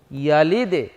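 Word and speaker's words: يَلِدْ: ইয়া জবর ইয়া, লাম দাল জের লিদে ইয়ালিদে ইয়ালিদে ইয়ালিদে। আমরা দালটাকে নিচের দিকে উচ্চারণ করেছি কলকলা হওয়ার কারণে।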